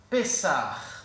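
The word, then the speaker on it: פסח: Qui pourrait le prononcer pour moi, s'il vous plaît? Pessah.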